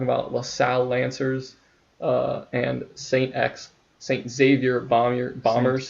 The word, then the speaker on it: Xavier: You pronounce the X.